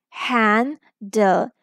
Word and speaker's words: handle: The word will be handle. Vowel will say its short sound because it is a closed syllable.